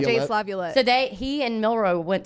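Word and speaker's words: LaViolette: Lavulette. It's tough to I say. hate saying that name. Jace Lavulette.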